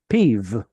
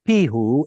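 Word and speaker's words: פיו: P which means mouth his mouth peeve it was probably originally PE who and in fact there are plenty of examples of this in the Bible but over time we got lazy we stopped pronouncing the hey and then for whatever reason we change VAV from a w into a V and that somehow becomes PE but the point is the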